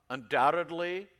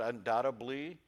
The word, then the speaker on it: undoubtedly: things often mispronounced asterisk undoubtedly sometimes comes out undoubtably mischievous instead of mischievous no